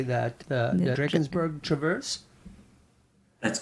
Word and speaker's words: Drakensberg: So, I just showed a clip, and I'm probably going to pronounce this wrong. Can you help me with this? How do you say that? The Drakensberg Traverse?